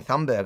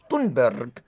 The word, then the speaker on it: Thunberg: Everybody's realized that we've been saying her name wrong the whole time now. It's I've been saying Yeah. I've been saying Thumbberg. I didn't realize it's Thunberg.